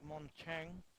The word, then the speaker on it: montagne: It stands for a French word like montagne.